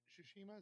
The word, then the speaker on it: Tsushima: Tsushima is how you say it?